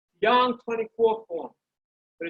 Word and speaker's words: Yang: dong style tai chi yang is spelled y a n g young 24 form but it's